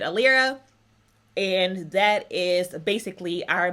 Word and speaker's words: Alyra: together and you get it should be a Lyra but the library just sounds way too strange so we're pronouncing it a Lyra and that is basically